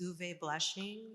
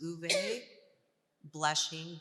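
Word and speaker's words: Uwe Blesching: a gentleman he's a doctor his name is oovey blessing and he has a wonderful book out called um u w e but it's pronounced ube blessing b-l-e-s-c-h-i-n-g it's called the cannabis health index it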